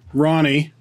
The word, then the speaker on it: Rony: all right so your name is pronounced Ronnie Ronnie and my last name is